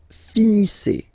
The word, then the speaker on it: finissez: Vous finissez. Vous finissez. Okay, EZ at the end gives you the sound E.